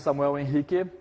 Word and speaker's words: Samuel Henrique: uh my name is Samuel in hiiki I am that's the Brazilian pronunciation of my name because I am Brazilian I have been a